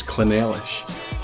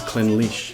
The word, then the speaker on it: Clynelish: I didn't think this one was particularly tricky, but I recently heard it pronounced as Clynelish. This is Clynelish.